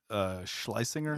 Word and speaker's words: Schlesinger: Elijah Schlesinger? Yeah, that's how you pronounce her. Liza. Yeah. Schlesinger.